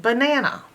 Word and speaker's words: banana: the first it says any open a that's not accented is a schwa sound like in the word banana as you can see it has been split into three syllables the man uh the first a is an open a so it's making the schwa sound ba ba the middle a is